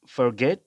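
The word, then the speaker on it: forget: তারপর আমরা হচ্ছে ফরগেট, ফরগেটের উচ্চারণ হবে এফ এর উচ্চারণ ফ, শর্ট আ মানে সোয়া সাউন্ড, আর ফর, গ, এ, ফরগেট, এরকম উচ্চারণ হবে ফরগেট, ফরগেট।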